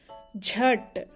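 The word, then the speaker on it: झट: This word means quickly, The j sound forceful version is jh, and tomato t makes the sound jhat. We pronounce this as jhat.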